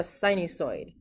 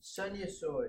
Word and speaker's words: sinusoid: How do you say it? Sinusoid. It's a sinusoid. Sinusoid. It's like, a dinosaur.